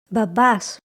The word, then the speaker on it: μπαμπάς: syllables in a word, again we pronounce only the combination. Here are a few examples. Da babas bakei.